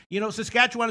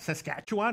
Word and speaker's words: Saskatchewan: Saskatchewan is a good team.